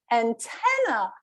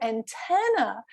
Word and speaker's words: antenna: but because he had the stress on the wrong syllable she had no idea what he was saying and then she was like oh antenna so just that's difference between antenna and antenna can make a world of difference so yes in